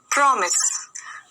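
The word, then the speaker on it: promise: प्रॉमिस, प्रॉमिस कैसे pronounce करोगे? प्रॉमिस, प्रॉमिस, यहाँ पर ये वाली जो मात्रा होती है वो क्या होती है? ओ की होती है ना, प्रॉमिस, ठीक है।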